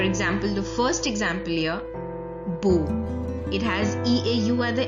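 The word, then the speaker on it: beaux: The X is silent, it is not pronounced.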